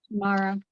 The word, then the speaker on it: Shamara: Is it Shamara? Shamara. Okay, Shamara. Okay.